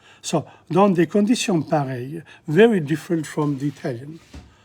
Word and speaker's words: pareilles: travailler dans des conditions pareilles? EI. Pareil in front of the L. You don't pronounce the L's. Pareil. And you don't pronounce the ES at the end. So, dans des conditions pareilles, very different from the